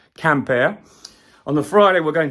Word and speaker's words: Quimper: way to Camp air pronounced quimper if you're a really bad Brit but it's actually pronounced camper on the Friday we're